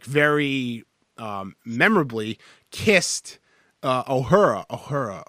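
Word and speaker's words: Uhura: memorably kissed Oh her a hora hora is a hora is how you say her name but she was black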